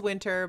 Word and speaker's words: Wyntr: I just changed it so it it still pronounced as winter but yeah doesn't you know it's Miss right